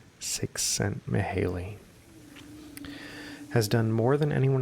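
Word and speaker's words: Csikszentmihalyi: psychologist male sent Maley it's got a description of the pronunciation pronounced six cent Maley has done more than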